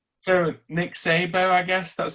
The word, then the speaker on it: Szabo: So Nick Szabo, I guess that's how you pronounce it.